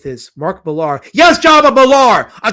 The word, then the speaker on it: Millar: His name is spelled Millar, so I'll call him Millar. If you wanted me to call him Miller, he'd spell it Miller. But it's not spelled Miller. It's spelled Millar, so I'm calling him Millar.